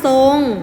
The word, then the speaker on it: ทรง: โซ่ นะ คะ อ่ะ มี คำ ที่ มี ตัว ทหาร ควบ กับ ตัว รอ เรือ เวลา อ่าน จะ ออก เสียง เป็น ตัว ส่อ โซ่ เช่น ทรง อ่าน ว่า ทรง คํา ควบ กล้ํา ไม่ แท้ ที่ มี ท.